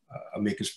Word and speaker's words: amicus: than others attract um amicus briefs or amicus briefs you can pronounce it either way um this case